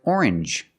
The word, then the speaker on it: orange: to strangers very good usually when you see NG G it makes the sound like orange or exchange you make the n Sound not the nasal sound just n and the J like juice JJ together orange orange or exchange change or exchange you have the same sound NJ this word too challenge